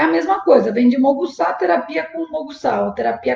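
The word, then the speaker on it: もぐさ: Moxabustão, basicamente viria de moxa, se assemelha muito a uma palavra japonesa, que é moguçá, só que o U geralmente não é pronunciado, então fica moguçá.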